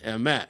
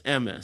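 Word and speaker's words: אמת: But it's like all of that is, it's Asher natan lanu Torah emet, right? So all the emphases are on the end of the words. And then if you do the Eastern European Ashkenazi pronunciations, Asher nosan lanu Toiras emes. So everything's on the front of it.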